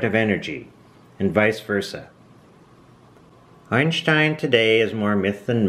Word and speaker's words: Einstein: this was albert einstein i'm going to pronounce his name in the german fashion einstein it's how they would